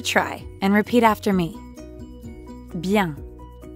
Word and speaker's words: bien: going well that's right you might have noticed that bian also has a nasal sound ah so give it a try and repeat after me bien sababien now